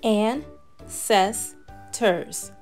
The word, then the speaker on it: ancestors: who lived long ago you say it like this and says turs isn't that a great